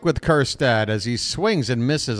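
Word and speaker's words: Kjerstad: what we like with kirad as he swings and misses on a pitch in the dirt I mean his name is silent J after all Curtis quiet is what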